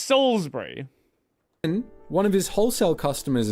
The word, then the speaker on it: Salisbury: It is S-A-L-I-S-B-U-R-Y. You don't pronounce the I, it's just Salisbury.